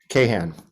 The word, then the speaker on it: Kahan: then I neglected can you actually pronounce your last name for me so that I did I say it right the first time Kahan Kahan ah nailed it all right did you